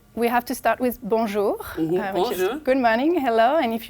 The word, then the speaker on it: bonjour: have to start with bonjour good morning hello and if you want to pronounce it properly don't say bour don't pronounce the N just say bonjour it's very nasal bonjour I have a Nas